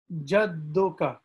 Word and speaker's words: jadduka: So with the D here, you have to try your best to pronounce this letter D twice. So if I slow this down, jadduka. You see how D is being pronounced twice?